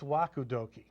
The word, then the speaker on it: Waku Doki: of that uh how about okie dokie what's wakudoki and doki is a new product buzzword that's